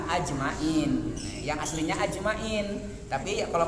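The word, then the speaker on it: أجمعين: ajmain wasim naon tapi yang masur itu yang paling tepat sesuai aslinya mah ajmain yang aslinya ajmain tapi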